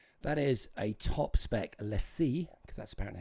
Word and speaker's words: LaCie: That is a top spec LaCie, because that's apparently how you say it.